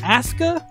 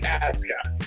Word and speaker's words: Asuka: Aska? Is that how we're saying it? WWE's doing one thing right, because Japanese pronunciation, you never pronounce the U. Okay, but it's Asuka. Atsuka.